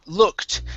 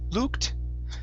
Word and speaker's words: looked: next up is okay looked now here you said lu luked okay instead of an u sound it's an uh looked try that looked looked